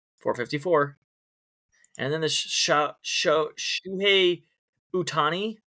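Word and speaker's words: Ohtani: And then the Shuhei Utani. Did I pronounce it right, guy? I think it's silent O. Sound Hatani. dead center.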